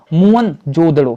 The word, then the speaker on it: मोहनजोदड़ो: शक्कर जिले पाकिस्तान है मोहनजोदड़ों शब्दों का सही उच्चारण है मोहनजोदड़ों तहत हम चंदन का